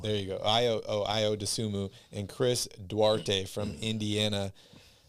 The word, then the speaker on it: Ayo Dosunmu: Josh Giddey, Bones Highland, Ayo, I don't even know how to pronounce this guy's name. Ayo Dosunmu. There you go. Ayo Dosunmu, and Chris Duarte from Indiana.